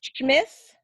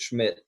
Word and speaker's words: Schmith: So it's Smith, or is it Schmidt? Yeah, just Schmidt.